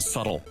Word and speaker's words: subtle: ] and I'd only ever read the word subtle not the pronunciation oh that out yes there's a bee